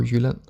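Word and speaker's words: Jylland: in the south of Jutland or Yulin as is pronounced in scandinavian then less than 1%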